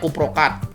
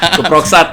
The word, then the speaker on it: Kuproksat: Nah, itu biasanya kita nyarankan, orang taunya kuprokat. Iya. Kuproksat ya. Iya. Teman kami itu kuprokat gitu kan bilangnya, tapi iya. dari bacanya kuproksat.